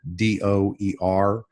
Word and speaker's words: Dougher: or guests at do er so when you pronounce my last name do er success as you see